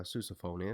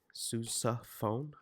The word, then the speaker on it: sousaphone: band knows what a sousaphone is and i'm pronouncing it differently on purpose susa phone or sousaphone depends on where you're from I guess but if you play